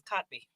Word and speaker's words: Kotb: do I know because her name is kotby what's her name kotby oh is that how you say her name yeah I didn't know